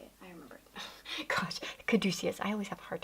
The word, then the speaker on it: Caduceus: Gosh, Caduceus.